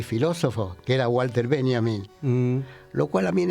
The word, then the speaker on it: Benjamin: No digas Benjamin. ¿Cómo es? Benjamin. Benjamin. Porque si le decís Benjamin, me lo mandás a Estados Unidos. Ajá. En alemán la J se pronuncia I. Entonces, Benjamin.